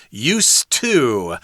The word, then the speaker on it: used to: It's kind of interesting here because the pronunciation is used to. The D there is not so soft there.